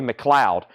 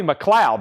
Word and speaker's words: McLeod: Chad is pronounced Roy McLeod. Roy McLeod, not McLeod. Okay? We'll say McLeod.